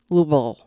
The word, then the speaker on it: Louisville: I was in and Louisville is like pronounced like like you have marbles in your mouth lble kind of like that so there we